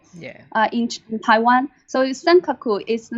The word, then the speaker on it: Senkaku: uh in taiwan so senkaku is the name used in japan uh so that's you can see the the pronunciation is actually japanese pronunciation senkaku senkaku islands so it's quite